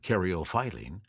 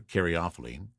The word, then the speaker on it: caryophyllene: og shark and now i come to caryophyllene and i have also heard an alternate pronunciation of this so i'll throw that out as well and karyophiline so caryophylline or karyophylene either way it's best known for its spicy and peppery note i prefer caryophylline is found in black